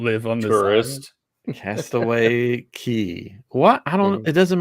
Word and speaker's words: Cay: Is it It's spelled Castaway Cay. Yeah, but it's Castaway Cay. Why? Why? Because it's a Caribbean man. I'm calling somebody on this. That's how you say it.